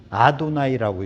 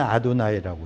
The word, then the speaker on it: 아도나이: 그래갖고 유대인들은요, 쓰기는 이렇게 쓰고 읽기는 아도나이라고 읽었습니다. 쓰기는 이렇게 써요. 실제 발음은 여호와예요. 그리고 읽기는 아도나이라고 읽어요.